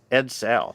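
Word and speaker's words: Edsel: car yeah a eds a l so okay ed sale yeah just just to be pedantic on the pronunciation people playing along at home not making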